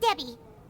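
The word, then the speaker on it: Dehya: It is pronounced Debbie.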